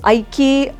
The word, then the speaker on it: Iykki: So how to pronounce it? So everyone asks me. So Aiki வேற ஒன்றும் இல்லை, ரொம்ப கஷ்டமான வேர்டு இல்லை, தமிழ் பெயர், தூய தமிழ் பெயர். ஐக்கியம் சொல்லுவாங்கள்ல, யூனிட்டி, அதிலிருந்து கஷ்டப்பட்டு தேடி கண்டுபிடிச்சி வச்சது தான் ஐக்கியா.